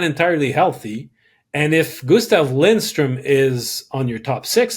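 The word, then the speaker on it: Lindström: Gustav Lindstrom is Gustav Lindstrom it's basically yeah when you have yeah never never forget to pronounce the n in his name otherwise you it's a whole different exactly but um you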